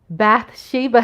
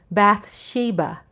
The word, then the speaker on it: Bathsheba: Bathsheba, hello, Coyote. Hi. Pronounce that again. Bathsheba.